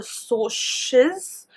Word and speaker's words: Socs: And then there are the Socs. So it's pronounced it's spelled SOCS, which is short for socials.